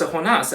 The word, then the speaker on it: Jonah: Like my name is Jonah in English, but in Mexico they pronounce a honas. I'm not taking offense to that. That's just how they pronounce my name in their dialect.